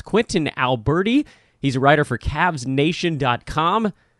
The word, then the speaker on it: Albertie: My first initial, Sharon, SHIRON Albertie.